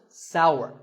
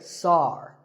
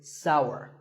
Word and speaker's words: sour: what about this taste it's pronounced sour some people say sar that is a mispronunciation the only correct way to say this word is sour many words in the